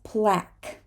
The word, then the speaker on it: plaque: the first letter q this is plaque plaque it's I think it's a French word and we're not going to say the UE at the end of a word this is come come